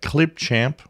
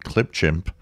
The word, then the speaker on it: Clipchamp: a little bit about Clipchamp, which I still have a hard time pronouncing correctly. For some reason, I keep calling it Clipchimp.